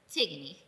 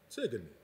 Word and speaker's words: Tigonie: Tigonie, but my friends call me. Tigonie.